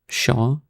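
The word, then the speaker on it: pshaw: Shaw. Okay, you don't even say the P.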